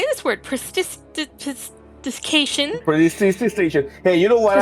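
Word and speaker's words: prestidigitation: Prestidication. That's how you say it.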